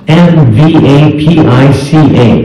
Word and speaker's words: MVAPICH: The name is pronounced MVAPICH.